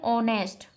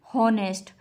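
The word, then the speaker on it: honest: ऐसा ही है ऑनेस्ट, ना कि हॉनेस्ट। एच इसमें क्या है साइलेंट, तो ऑनेस्ट, ओ मतलब वॉबिल, तो एन।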